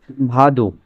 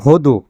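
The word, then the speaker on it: воду: আনা পিয়ত ভাদু। আনা পিয়ত ভাদু। এখানে উচ্চারণ হওয়ার কথা ভদু। উচ্চারণ হওয়ার কথা কি? ভদ। কিন্তু আসলে উচ্চারণ ভোদ নয়। উচ্চারণ ভাদু হচ্ছে।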